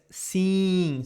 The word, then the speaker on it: sim: Because you have this sound as the word, the verb to see. Like, I have seen something. Yesterday, I have seen my friend. For example, I have seen my friend recently. So always you see this E-I-M or E-I-N, we are going to pronounce as the same idea as sim.